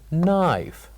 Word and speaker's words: knife: k k the word knife has one silent letter which is K and then the other